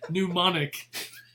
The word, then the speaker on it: mnemonic: Spell it. How to start with a B? B? Silent P. Mnemonic.